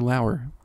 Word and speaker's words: Lauer: Lauer. Plug away. You can follow me on Twitter at Lauer_Ryan. Lauer spelled like lower.